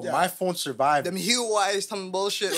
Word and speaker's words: Huawei: Them Huawei's, some bullshit like Yo. Yeah, I don't know how you pronounce that shit.